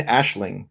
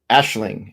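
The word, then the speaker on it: Aisling: crime or something because what gets spelled out is not even remotely what how a name or word is pronounced.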